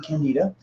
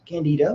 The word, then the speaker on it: candida: This is actually a helpful point in looking at mold versus candida, or candida, whatever you want to call it. You can hear that pronounced 100 different ways, but they're both fungi.